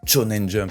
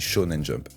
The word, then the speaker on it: Shonen Jump: les commentaires, on dit pas Shonen Jump, on dit Shonen Jump, pardon. Des fois, voilà, il y a des mots que je dis comme ça, sans réfléchir, et que je dis pas la bonne prononciation.